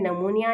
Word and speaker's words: pneumonia: Third हमारे पास disease यहीं पर लिखी हुई है, जो कि है नमूनिया। नमूनिया को आप सब जानते हो, नमूनिया की स्पेलिंग ये होती है, पी साइलेंट होता है।